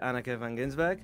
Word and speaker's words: Anneke Van Giersbergen: interview with Anneke Van Giersbergen. I hope I'm pronouncing that right.